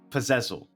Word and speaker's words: Puzezl: You always produce and are a great performer, and I'm excited to see Puzezl. I still am not pronouncing it right.